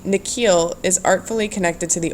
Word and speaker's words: Nikhil: The way the principal pronounces his new name is different from the way his parents say it, in the second part of it longer, sounding like heel.